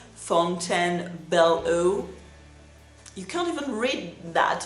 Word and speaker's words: Fontainebleau: Some of their items are a little bit sweeter, but this collection, Fontainebleau, I pronounce it in French, Fontainebleau.